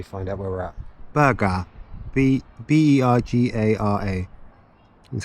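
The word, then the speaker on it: Bergara: Berga.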